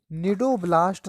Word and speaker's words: Cnidoblast: निडोब्लास्ट की spelling भी सी से ही स्टार्ट होती है, CNIDOBLAST।